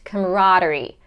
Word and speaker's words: camaraderie: from the D immediately to the r sound camaraderie camaraderie now this explanation is not explanation how